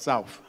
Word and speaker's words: South: Native of South Philadelphia, and as many of you know, it's not pronounced South, it's pronounced South.